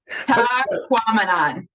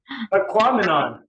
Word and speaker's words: Tahquamenon: Tell me how you pronounce what is it? Tahquamenon. Tahquamenon. Tahquamenon. Tahquamenon.